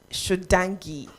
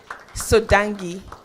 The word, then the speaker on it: Sodangi: Did I pronounce that well? Sodangi. All right, that's more like you. Thank you for the correction. Now I noted that and I'll never make that mistake. So it's Sodangi. Thank you very much, for joining us today.